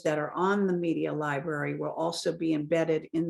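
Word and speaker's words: LBRY: got a companion site called Library it's spelled l b r y and so that organization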